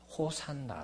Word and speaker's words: 호산나: 하나가되는 것입니다 야시 않아 이것을 헬라 으로 발음 하게 되면 호산나 로 이렇게 발음이 된다는 것입니다 그래서 예수님을 향해서 종로는